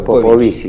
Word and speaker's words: Popovici: rumano, Aurel Popovisi, eh creo que se pronuncia así en rumano es Popovici. Si fuera el italiano es Popovichi, ¿no?